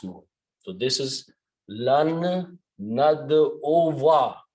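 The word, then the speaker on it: نَدْعُوَا: So this is lan nad ova. Make sure you pronounce, don't pronounce nadu. Nad ova.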